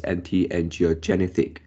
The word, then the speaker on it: anti-angiogenic: I think you pronounce one more syllable at the end. This one is anti-angiogenic, and you pronounce as anti-angiogenic.